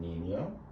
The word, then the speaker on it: niño: we have nina and nino the tilde makes a sound so here we have nina and this just means